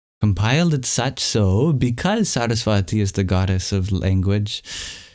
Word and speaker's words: Saraswati: And the second syllable in Saraswati also has a higher pitch.